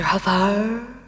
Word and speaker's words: Farrer: Havar? What? You're the first object that ever pronounced it right.